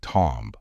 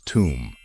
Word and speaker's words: tomb: be tempting to say Tom however in English we say this one as tomb as if there is no letter B at the end and the letter O should be pronounced as U so again the correct